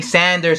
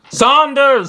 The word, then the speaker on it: Saunders: man Andy frogs rights all Yanks say Sanders ed Sanders I'm sorry for being a Yank I'm sorry Saunders Saunders Sirius Black Oh Harry Potter series black its Saunders stop saying standards you [ __